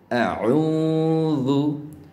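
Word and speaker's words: أعوذ: পাশাপাশি এখানে যেহেতু আইন এসেছে, আইন হরফটিকে শুদ্ধ করে উচ্চারণ করতে হলে অবশ্যই আপনাকে গলার ভিতরে চাপ দিয়ে পড়তে হবে, এরকম আউযু।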